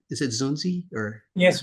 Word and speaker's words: Zunzi: First, am I pronouncing your name right? Is it Zunzi or?